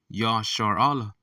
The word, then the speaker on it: Yasharahla: a quick lesson from the Hebrew word um Yar Allah okay which is how you pronounce Israel in the Paleo Hebrew so let's go to